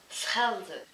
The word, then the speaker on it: Schelde: Schelde.